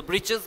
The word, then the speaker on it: breeches: So breeches meaning it is given, short trousers. The writer here spells it for fun, to rhyme with the word witches.